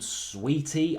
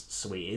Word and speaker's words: Saweetie: with a rapper called Saweetie, I think is how you pronounce her name. It's spelt a bit weird, but I think it's Saweetie.